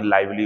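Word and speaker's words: lively: एक बच्चे ने कहा मुझसे कि सर ये लिवली पढ़ा आपने, लाइवली होता, वो सही है, बाय मिस्टेक मेरे मुंह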